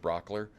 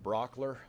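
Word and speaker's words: Brauchler: turn it over quickly to district attorney George Brock ler and then and he'll turn it over to the governor and then we'll answer a few questions Georgia good morning my name is George Brock ler last name is spelled BR au CHL er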